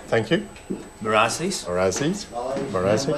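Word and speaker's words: Meur ras: Merasis.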